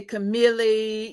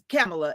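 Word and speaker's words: Kamala: is camela and so everybody would say camele you just it's pronounced just like the the vice president camela and they always mess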